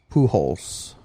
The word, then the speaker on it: Pujols: to pay him so Albert Pujols they pronounce it who holes Albert that is correct